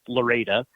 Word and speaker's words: Lorida: It's literally called Lorida, Florida. It's spelled Lorida, Florida. I've recently found out that it's pronounced Loretta.